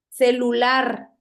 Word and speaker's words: celular: Escuchen la palabra. ¿Dónde lleva la sílaba tónica? celular. Correcto. Es una palabra aguda. La tienen la última sílaba.